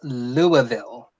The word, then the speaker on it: Louisville: Lee says to Morgan, I've heard that's Louisville.